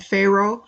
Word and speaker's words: Faroe: and some birds and Pharaoh spelled FA ro e sounds phonetically like what word the alignment next comes